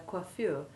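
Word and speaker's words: coiffure: wish to discuss their quaffeur in which the first syllable sounds like the qua of quack listen again to these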